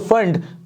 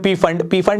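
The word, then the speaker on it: Pfund: कहीं से भी 5 में आए तो फंड, पी साइलेंट है, कई लोग बोलते हैं पी फंड नहीं होता भाई, वो फंड है ना।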